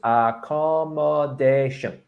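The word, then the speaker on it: recommendation: it down into syllables a commendation five syllables and you stress number four you stress the fourth ah all right okay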